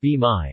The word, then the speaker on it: bain-marie: A bain-marie, pronounced Bain-marie, also known as a water bath or double